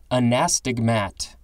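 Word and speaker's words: anastigmat: literally means enemy ancestors now we have a nastigmat i think that's the correct emphasis on the syllables and pronunciation a-n-a-s-t-i-g-m-a-t this is a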